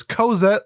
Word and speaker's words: Cozette: Joining me today on this review is Cozette like coconut.